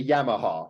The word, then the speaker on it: Yamaha: It's like, you know, like the word, like, oh, I ride a Yamaha. It's like in Japanese, all of those A's have the sound pronunciation. In English, it's Yamaha.